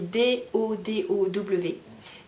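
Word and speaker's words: Dodow: Et j'aime bien son nom parce que ça s'écrit D-O-D-O-W. Et moi je dis dodo.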